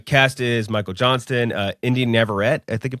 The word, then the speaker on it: Navarrete: Uh, cast is Michael Johnston, India Navarrete I think I'm pronouncing it right. And Navarrete. Navarrete.